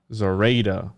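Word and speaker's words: Zorayda: Smith helped train the masons on the mixing and pouring techniques he used on the Zoraida. How do you say it again? Zoraida.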